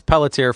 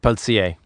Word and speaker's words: Pelletier: It's Pelletier for English, but it's like Pelletier.